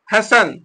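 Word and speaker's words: hasten: उसको बोलते हैं डिपो अगला वर्ड है हैसन सन एच ए एस टी एन यहां पर टी क्या है साइलेंट है तो य पर क्या पढ़ेंगे इसको सनसन माने जल्दी करना फिर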